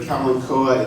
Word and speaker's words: Kalanchoe: Now, the pronunciation here is Kalanchoe or Kalanchoa.